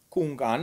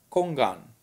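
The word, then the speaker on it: 公案: Kungan, ez volt a kínai, kongan, ez a koreai, és koan, ez a japán kiejtése ugyanannak a két karakternek,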